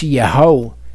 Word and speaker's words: Yeho: But Hebrew is very specific in that if the Yud Hey Vav are at the beginning, it's Yeho, and you can think of other names that use the Yeho at the beginning.